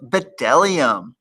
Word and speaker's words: bdellium: No, because bdellium was one of those 3-syllable words that we skip over. It's 4 syllables. Yeah, that too, 4 syllables.